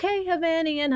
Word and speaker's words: Hovnanian: But you might know that cute little jingle, Hovnanian Homes.